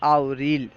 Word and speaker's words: آوریل: ہے، مارچ، مارس۔ April, April کا فارسی تلفظ ہے آوریل۔ مئی، مئی کا فارسی